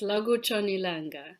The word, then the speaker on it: Lakutshon' Ilanga: Lakutshon Ilanga. Yeah, that was pretty good. Yeah, it's Lakutshon Ilanga.